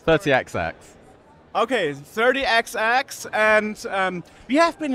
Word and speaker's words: 30XX: show us actually I don't know how you pronounce this 30 double double X 30xx okay 30xx and um we have been invited by stri